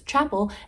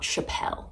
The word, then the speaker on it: Chappell: feel confident enough to say her name was chapel and not Chappelle Mysteries of the world